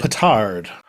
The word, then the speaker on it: petard: Petard.